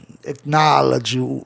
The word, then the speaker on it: acknowledge: Acknowledge, todo OW vai ter o som de A.